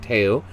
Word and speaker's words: Theo: teo or theo but spelt theo but in in dutch i think it's pronounced teo um you've been living